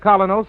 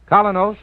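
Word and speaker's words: Kolynos: in Social and business life you can get colos at any drugstore tonight that's spelled k o l y n o colos toothpaste now back to Mr Keen as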